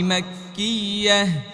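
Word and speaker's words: مَكِّيَّة: সূরাতুল আসর মাক্কিয়াহ। শেষ মাক্কিয়া, ইয়া বললে হবে না তো, শেষে হা আছে না নাই, উচ্চারণ করতে হবে। মাক্কিয়াহ, এই তো হয়েছে।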